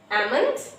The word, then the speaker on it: almond: So almond, talk, walk, salmon, not salmon. Because these four letters have a silent L.